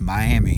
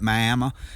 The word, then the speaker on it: Miami: To me, it's Miami. It's spelled Miami, but the Oklahomians call it Miami.